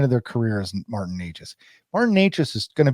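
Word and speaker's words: Nečas: Natchez, yes, Natchez.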